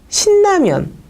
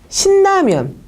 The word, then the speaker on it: 신라면: 한 번은 느하고 르, 즉 신라면이라는 세 개의 그 음절 글자가 있는데 요것들을 연쇄시켜서 신라면 했을 때하고 신라면 했을 때 느하고 르가 만났을 때 한 번은 제가 느느로 발음을 했고요. 한 번은 르르로 발음을 했어요.